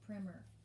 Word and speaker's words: primer: it looks like the word primer but it's pronounced primer all right and then tell me why noah